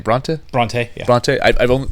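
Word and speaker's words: Brontë: Bronte.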